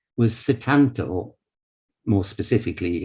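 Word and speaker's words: Sétanta: his birth name was satanto more specifically if you're pronouncing it in irish i believe it's shiddanda but that's cetanta is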